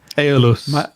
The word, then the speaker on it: Aeolus: Moving on to the next one, which is called, help me out, how on earth do you pronounce this? Harley Benton Aeolus something? Aeolus.